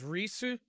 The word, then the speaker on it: Ries: up how to pronounce the names uh the pronunciation is risu and so uh this time i'm not going